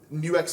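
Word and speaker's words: NUX: First of all, New X is the pronunciation, right? Yeah, New X. Okay, there you go. So I've been saying it wrong for years. They won't care. There you go. Fair play. They're very lovely people. Yeah, so I gather, right? Actually, in Chinese, it's New X.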